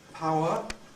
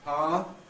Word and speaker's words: power: this sequence of events applies equally to our before another vow so that power for the the ow can lose its second element giving us power and that can then compress into a single syll p you don't need